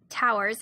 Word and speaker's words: tour: employees work 12-hour shifts or towers in industry parlance which is spelled like tours they then get another